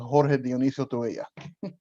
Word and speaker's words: Jorge Dionisio Tubella: So just so you know, my name in Spanish is pronounced Jorge Dionisio Tubella, but I can go by George Tubella.